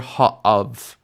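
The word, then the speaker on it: הָאָב: And so the vowel actually compensates for the loss of the dagesh by changing into a kamatz, and you end up with ha'av. Now, in classical pronunciation, again, you would hear this difference. You would hear hamayim, but instead with av, you'd hear ha'av.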